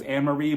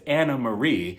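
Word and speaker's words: Annemarie: outfits so we start with anamarie I've been mispronouncing her name according to her the entire time I thought it was anarie but it's anamarie she says it's a name she's at the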